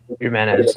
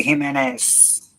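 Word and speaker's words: Jiménez: Himenez. I got the last name wrong. Jorge Gimenez.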